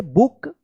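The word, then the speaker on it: book: जब double O रहता है तो इसका उच्चारण उ होता है। तो बी डबल ओ के बुक।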